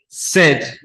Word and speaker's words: said: with paid not said said rhymes with bread not with bead bead rhymes with lead